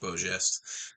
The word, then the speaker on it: Beau Geste: That is how you say that, by the way. It's French, Beau Geste.